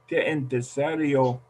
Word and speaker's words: interesaría: Interesaría. 6 sílabas. Interesaría. Interesaría. Esa está mejor. Interesaría. Siria. Saría. Sería. Interesaría. Casi. Interesaría. Marshall, when I was struggling with these, somebody told me that just remember the ria.